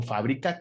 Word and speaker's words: fábrica: Entonces, debo decir que es una palabra esdrújula, es decir, que la sílaba tónica debe de ir en la antepenúltima sílaba.